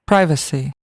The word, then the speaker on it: privacy: 3 syllables हैं, first के ऊपर जो है वो स्ट्रेस है, प्राइवेसी। यानी वी के बाद जो ए है उसको बिल्कुल कम कर दें, प्राइवेसी, प्राइवेसी, प्राइवेसी, यानी वी के बाद ए को लंबा नहीं करना, वेसी, ये गलत है, प्राइवेसी, प्राइवेसी।